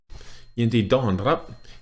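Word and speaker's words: ยินดีต้อนรับ: น ร ั บ Remember, yindi, flat. Hit that dawn, dawn. Duh, duh. That's a hard hit. Dawn with a falling tone, and then slightly roll your R. Rap. Yindi dawn, rap.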